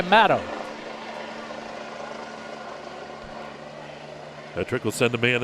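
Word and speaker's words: Maddox: Matto, it's spelled M-A-D-D-O-X, but he goes by Matto.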